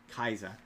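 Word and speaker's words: Kaixa: His name's Common Rider Kaisa. It's K axa. Kaisa is how they pronounce it.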